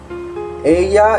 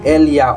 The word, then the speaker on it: ella: Ella es una estudiante inteligente. Again, we don't pronounce double L like Elia or Ella. Again, in Spanish, doble L is like Y, pronounced as Y.